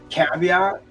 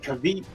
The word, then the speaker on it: caveat: that's being pronounced often mispronounced word like caveat I for years I said kavit CU it's spelled you know e a I don't know if